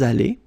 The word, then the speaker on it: allés: Nous sommes allés. You don't pronounce it, okay, but you write it.